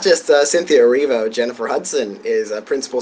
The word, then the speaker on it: Erivo: That's how you pronounce, yeah, Erivo.